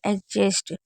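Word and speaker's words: adjust: याद रखिएगा अगर डी के बाद जी होगा तब भी हम नहीं पढ़ेंगे और जे होगा तब भी नहीं। जैसे एडजस्ट तो यहां पर क्या है? जे है तो हम यहां पर भी हम डी को नहीं पढ़ रहे हैं।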